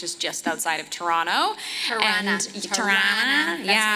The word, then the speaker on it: Toronto: Tirana. Tirana, That's yeah. how you say it like a real Canadian. Tirana. It's not Toronto. It's It's Tirana.